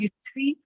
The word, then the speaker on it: Usui: She said, I learned, I'm not sure how to pronounce this. Usui. Yep. Usui Reiki.